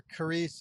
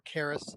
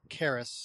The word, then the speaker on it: Caris: especially where Carice is talking to or Caris, as they pronounce her name, Caris, as she discusses with the monks, the Christian monks, who this God is.